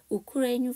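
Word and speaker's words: Ukraine: 기사로 여러분들과 만나뵙도록 하겠습니다 우크레인 파이널 파이어스 메이드 롱거 레인지 미인 R 자 우리는 우크라이나 하는데요 그 영어 발음은 우크라이나가 아니죠 우크라인카 동사로 쓰였습니다 파이어가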